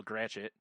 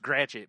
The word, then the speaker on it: Gratiot: read about it or learn how to spell Gratiot. Because it's pronounced Gratiot, but it's Gratiot.